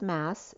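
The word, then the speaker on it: Maß: ma and mass so m a b came up pronounced mass it's swiss spelling a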